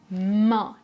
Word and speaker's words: main: Je prononce main, main. Les lèvres sont étirées.